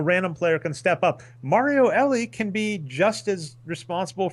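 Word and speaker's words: Mario Elie: I hope I'm saying his name right his pronunciation it is Mario Ellie you got it for the Alvin patroons in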